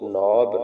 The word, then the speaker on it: knob: एन आ जाए तो ये के साइलेंट होता है। ये बनेगा एन, नून की आवाज देगा, ओ वाओ की, बी बे की, ये बनेगा नून वन। नौ बेवकूफ, नौब।